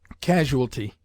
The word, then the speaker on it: casualty: of quote gould brown casualty this word is often heard with the incorrect addition of a syllable casualty which is not recognized by the lexicographers some writers object to